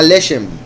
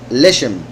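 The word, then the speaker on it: לשם: hebreo se llama lesem lesem se escribe lamet Shin mem entonces podría decir la shem que significaría por el nombre entonces la piedra de Jacinto en hebreo se puede interpretar como por el nombre ahora bien con eso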